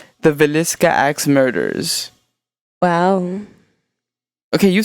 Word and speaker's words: Villisca: I forgot that I needed to practice how to pronounce it before. Villisca. The Villisca Axe Murders.